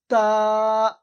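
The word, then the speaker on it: تاء: মুখের দিকে তাকান বা বা আলিফ বা তারপরে তা আমার মুখের দিকে তাকান তা উচ্চারণ হয় জীবের আগা এবং উপরে যে দুই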